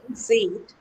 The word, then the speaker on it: seat: So the way you pronounce a word shows that one is a short vowel the other is a long vowel. We take some we take some long we take a bit longer time to pronounce.